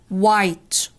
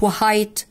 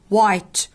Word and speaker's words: white: خلينا دلوقتي ان ال W لما يجي وراها H ال H بتبقى silent، فانطقها كده white white مش white، غلط، white white.